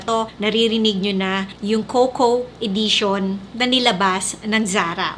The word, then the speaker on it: Cocoa: tamang pronunciation ng Coco, ang pronunciation natin sa kanya is cocawa. Or I don't know baka Tagalog na pronunciation pero I will pronounce it as coco.